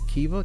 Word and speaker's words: Kiva: one of the organizations I think is pronounced as a Kiva ki VA to where you help